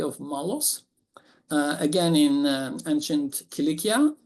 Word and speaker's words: Cilicia: Malos, again in ancient Cilicia, also known as Cilicia. And strangely, sometimes it is pronounced as Cilicia. It makes me laugh. You can only Anglo-Saxonize an ancient name so much.